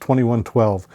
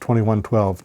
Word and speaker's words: 2112: so in 1976 they launched uh they released 2112 and incidentally for those of you who see this and are going to react it is pronounced 2112 not 2,112 or 2112 uh yeah I've I've